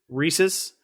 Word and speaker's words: Reese's: my brain so I understand that the correct pronunciation is rhesus Reese's Pieces but it's just on the East Coast it's just Reese's Pieces maybe it's just upstate New York I